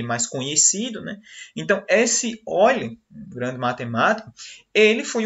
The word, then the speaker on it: Euler: que um matemático chamado Euler, apesar de se escrever aí, como vocês podem ver no slide, Euler, a pronúncia correta é Euler, certo?